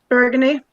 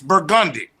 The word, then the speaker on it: Burgundy: do you pronounce that bergundy burgundy no it's a street name it's burgundi deal with burgundi FAL with it live with it we'll give you one